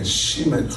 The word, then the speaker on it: shemen: You can speak in tongues and the Holy Ghost will give you the interpretation of how to pronounce it well. But it's S-H-E-M-E-A-N, shemen.